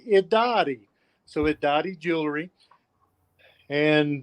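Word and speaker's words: Irari: in a d sound the r sounds like a d in our pawnee language and it's pronounced iddadi so at dottie jewelry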